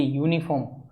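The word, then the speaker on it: uniform: यूनिफॉर्म singular भी है और काउंटेबल भी है, लेकिन यहाँ पर वाउल साउंड नहीं आ रहा, इसका प्रोनाउंसिएशन होता है यूनिफॉर्म, और ये के लिए हम ए का यूज करते हैं, ना कि एन का, तो ऑप्शन डी एलिमिनेट होगा।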